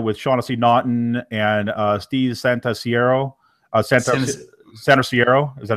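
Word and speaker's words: Santarsiero: District, you know, with Shaughnessy Naughton and Steve Santasiero, Santasiero, is that how you say his name? Yeah, Santasiero.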